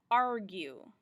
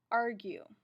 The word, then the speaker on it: argue: And the U represents that long sound as well as keeping that G hard. So that G is still hard with a long U when you hear that U in the word argue, which we didn't before.